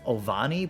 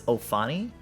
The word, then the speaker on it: Ofani: I say Ovani, but it's Ofani.